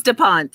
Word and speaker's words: Da Ponte: Oh, God, did I pronounce this right? You just told me. Da Ponte, right? It's Da Ponte, yeah, Da Ponte.